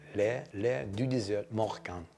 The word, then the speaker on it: L'Air du Désert Marocain: And it's, let me see if I can pronounce it correctly, L'air du désert marocain. I want to say it properly. L'air du désert marocain.